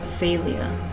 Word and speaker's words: Thaleia: I looked it up, and this is pronounced Thaleia. Before I was like, is it Thaleia? Thaleia? Thaleia is what one Google search result told me.